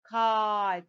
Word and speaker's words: kite: I add the silent E at the end. What do I get? Kite, the long vowel I here. So the word becomes kite.